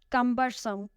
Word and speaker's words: cumbersome: Cumbersome. It has 3 syllables and the stress is on the first one.